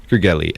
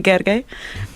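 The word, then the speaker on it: Gergely: of all by uh by the hungarian pronounced name so my name is gargay and i know you never knew that so now i just corrected it i'm so sorry of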